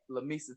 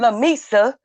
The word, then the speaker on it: Lamesa: How you pronounce it? Lamesa, Texas. Lamesa.